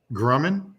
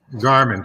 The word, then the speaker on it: Garmin: one too like that huh Grumman am I saying it right Grandma Garmin thank you Garmin yeah when I walked